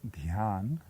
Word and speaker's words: Dhyan: The Sanskrit pronunciation is Dhyan, and the Bengali pronunciation is Dhyan.